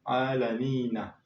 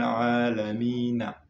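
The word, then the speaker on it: العالمين: Mais comme on s'arrête, donc, pour la bonne lecture, on ne doit pas dire Alhamdulillahi Rabbil Alamina. Non, non. Alhamdulillahi Rabbil Alamin. Ok? On ne prononce pas Na, mais N.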